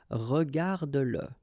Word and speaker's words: regarde-le: Remember that if you've got, in some situations, the pronoun le, and if it comes after your verb, like in that case, then you will have to pronounce it.